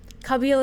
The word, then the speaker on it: Kabyle: Kabyle is the pronunciation.